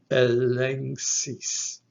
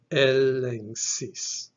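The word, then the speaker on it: ἔλεγξις: Now we have our combination, gamma, xi, giving us a nch. After that comes iota, our phonetic I, which is pronounced E. And then lastly, we have the sigma, giving us that hissing sound, the S sound. This word would be pronounced elengsis, elengsis.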